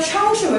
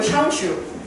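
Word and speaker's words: 雙手: 근데 왜 샹슈라고 읽어? 중국식으로 읽어서 그래. 중국식으로. 쌍슈, 샹슈.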